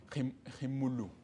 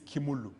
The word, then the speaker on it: Khimulu: The H is silent. Hakuna H is silent. It's silent. When it's French. So it's Khimulu. It's Khimulu. No, from where I come from, we call it Khimulu. It can work as well.